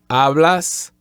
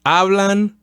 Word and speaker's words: habla: And third person, plural, ellos hablan or ellas hablan. And as a reminder, every time we see an H, we omit it. The letter H is silent. So don't say hablo or habla.